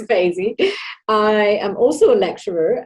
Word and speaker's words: Feyzi: a little bit about yourself and have i butchered your name no it's faizy i am also a lecturer at goldsmiths working